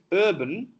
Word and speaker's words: urban: Both are substituted with a sound that Telugu has, that is we say urban, urban, but it's in English urban, because R is dropped in the English language.